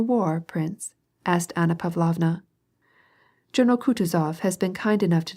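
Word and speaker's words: Kutuzov: General Coutuz has been kind enough to desire me as his aid to comp. He spoke in French and accented the last syllable of Coutis's name like a Frenchman.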